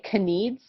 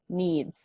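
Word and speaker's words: kneads: this combination of letters so k and n we almost never say the k okay so the way that we would say this word is actually needs okay needs and needs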